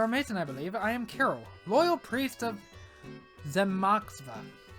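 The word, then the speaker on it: Kiryl: Carol, probably spell it. K I R Y L. Yeah, Carol.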